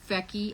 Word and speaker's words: Fecky: actually modeling this one it's called fecky f e we know it rhymes with Becky so it's I love